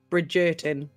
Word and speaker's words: Bridgerton: Is it not called Oh, Bridgington? dear. Bridgerton.